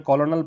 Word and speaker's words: colonel: कर्नल की spelling याद रखना, इसको ब्रिटिश इंग्लिश में कर्नल पढ़ते हैं, अमेरिकन में कॉलोनल पढ़ते हैं, जैसा है वैसा ही पढ़ते हैं अमेरिकन में।